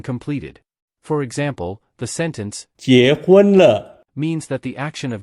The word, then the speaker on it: 結婚了: 了了 To help you remember 结婚了 easily, we can use the English words Jack, Hoon, and Lo to make sentences. Jack represents 结 Hoon relates to 婚 and Lo connects.